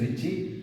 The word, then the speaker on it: Ritchie: While pronouncing T and E are silent. Dennis Ritchie at Bell's Lab.